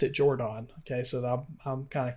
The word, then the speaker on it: Jordan: from the name and it's not jordan i know that's how most of us pronounce it but he pronounced it jordon okay so i'm kind